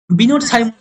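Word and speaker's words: Binet: জন্য নির্দেশ দেয়া হয়তো এরপরে 1905 সালের এইযে বিন হ্যাব বল বিনেদ বিনেদ এগুলো তো বিদেশী নাম আমরা ভারতীয়রা উচ্চারণ করলে অলরেডি সমস্যা হবে স্পেলিংটা ভুল হবে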